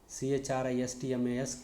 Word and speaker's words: Christmas: CASTLE, castle, CHRISTMAS, Christmas.